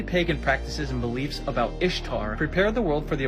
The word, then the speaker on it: Ishtar: did there and no there is no historian that says ishtar is pronounced like easter she's also known as